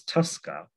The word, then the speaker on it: TSCA: The Toxic Substances Control Act, pronounced as TSCA, provides EPA with authority